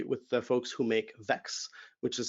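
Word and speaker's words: Vaex: worked very closely with the folks who make vex which is spelled v-a-e-x to to scale the the data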